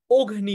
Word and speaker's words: অগ্নি: উচ্চারণটা একটু স্পেশাল হয়ে অ এর উচ্চারণটা ও হচ্ছে অগ্নি হচ্ছে তার মানে এটা